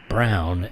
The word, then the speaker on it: Braun: Paul Brown, our friend Paul Brown. It looks like Paul Braun when written, but it is pronounced Brown, and don't piss him off.